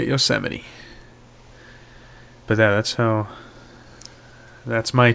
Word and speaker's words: Yosemite: I thought it was Yosemite until a year ago when I said it in front of my parents, and then they made fun of me for saying it wrong.